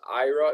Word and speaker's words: Aira: So if you guys are not aware, Starbucks and Ira, you can use Ira. It's spelled AIRA.